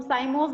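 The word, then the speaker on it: cyme: पढ़ते थे तब से ही हम काइम बोलते हैं। जब हम साइमोस बोल रहे हैं तो वहां पे CYM को हम साइम बोल रहे हैं, यहाँ पे हम काइम बोल रहे हैं। तो जस्ट प्रोनाउंसिएशन का फर्क है, साइमोस में ही हम पढ़ रहे हैं।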